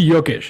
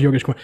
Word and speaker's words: Yogesh: as the middle name it's actually yokesh it's not yoga is like don in